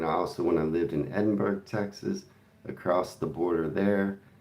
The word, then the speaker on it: Edinburg: It's pronounced Edinburg.